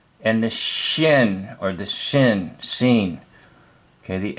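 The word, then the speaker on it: שׂ: On the other hand, if you see the dot on the top left of this letter form, pronounce it as S, as in sun.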